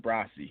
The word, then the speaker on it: Brassy: and N is and my name is actually pronounced brassy yes so we both